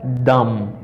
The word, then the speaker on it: dumb: No, because this letter, let's sa la li même, li pa prononcer nan boum nan la. La m gen crumb, and bum. Okay. After I have dumb, but m bagay dumb, but I have dumb, or you are dumb.